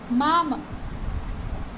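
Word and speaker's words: мама: मामा, मा, म, इसमें जो स्ट्रेस है वो फर्स्ट वॉवल के ऊपर है, यानी आ के ऊपर है।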